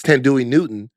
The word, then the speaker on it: Thandiwe Newton: It's Thandiwe Newton.